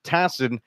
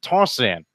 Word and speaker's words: Tassin: It's spelled Tassin. For others, it would be Tassin, but for you, it's Tossin. Correct. It is Tossin.